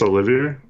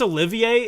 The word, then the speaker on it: Olivier: is it the the is it just Olivia I think it's Olivier in the commentator said Oliver foreign which I don't think is right man Olivier SAR I think it's how you say his name that's the three guys